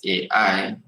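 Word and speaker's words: psi: call that s sign how we pronounce it is s s-a-i as simple as that how we spell it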